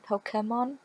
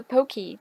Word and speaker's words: Pokémon: also please note that I pronounce them Pokemon because that is how you pronounce them what is it with a pokey that's just no that's not how it goes okay yes I'm sorry